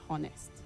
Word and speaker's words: honest: Honest. The H is silent in that word. So don't say honest.